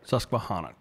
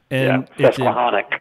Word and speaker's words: Susquehannock: Susquehannock. Okay. Susquehannock.